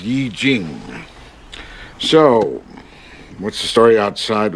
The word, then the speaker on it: I Ching: I Ching. It's pronounced Yi Jing.